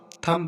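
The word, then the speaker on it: thumb: थम, यहाँ पर देखो एम के बाद बी आया है, तो हमारा बी साइलेंट रहेगा, इसको हम थम पढ़ेंगे।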